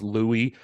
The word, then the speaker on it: Louis: and let's be honest that's probably supposed to be pronounced Louie who's this famous stained